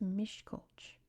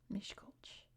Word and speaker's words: Miskolc: is the capital here, which in English is pronounced Miskolc. Miskolc. Miskolc. Miskolc. Miskolc. It's difficult. I hope that's close to Hungarian, because that's what Google tells me is how it's pronounced in English.